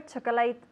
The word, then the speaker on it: chocolate: vanilla yes it's interesting we say chocolate chocolate two syllables chocolate chocolate chocolate chocolate chocolate chocolate chocolate chocolate we don't say chocolate yes chocolate chocolate ice